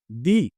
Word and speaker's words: the: দেখতে পাচ্ছেন সেটা হলো টি এইচ ই শব্দটার উচ্চারণ কি হয় দি দা নাকি দে বাংলাদেশের মধ্যে ব্যবহৃত তিনটা উচ্চারণই